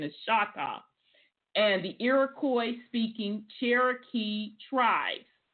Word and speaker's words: Choctaw: We know that's not the correct pronunciation is Choctaw.